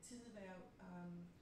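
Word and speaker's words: Tidehverv: And you make the argument that Kierkegaard, you make the argument that Kierkegaard was kind of recuperated in the Tidevær.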